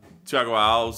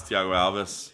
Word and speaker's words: Thiago Alves: pointed out before like I still say uh Chago Al even though like we know now as Thiago Alves is the right way to say it so nice so that's